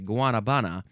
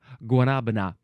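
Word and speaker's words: guanábana: There's an accent on that middle A. So would it be Guanabana? Oh, Guanabana.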